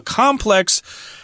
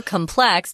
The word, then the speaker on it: complex: Usually with the adjective, Tom, it's complex, and the noun is complex.